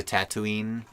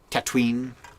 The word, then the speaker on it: Tatooine: the pikes coming to tatooine tatwin tatum tatween so now we got and tattooing tatooine no three syllables here it's only two baby my name's